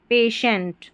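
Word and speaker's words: patient: यहां शियंट करके नहीं पढ़ना है। जैसे सी आई ई एन टी में पढ़ा। यहां पर टी आई ई एन टी को शेंट पढ़ना है। शेंट पेशेंट फिर है टी आई।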